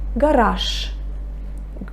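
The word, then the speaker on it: гараж: Garage. Garage. Can you hear? I say sh. I pronounce the voiceless consonant. I pronounce the voiceless sh instead of voiced j. Okay? Garage.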